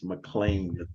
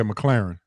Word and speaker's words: McClarin: My man, Horace McClain III. McClarin. Did I say it right? How'd I say it? Yeah, McClarin.